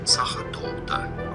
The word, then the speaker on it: Sachertorte: Austrian, German pronunciation. Sachertorte. Okay, yes, I know in English it's not generally pronounced this way. It's often pronounced as Sachertorte.